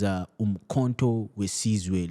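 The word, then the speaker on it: Umkhonto we Sizwe: Uh, if I'm to pronounce it correctly, it is Umkhonto Wesizwe, literally the spear of the nation.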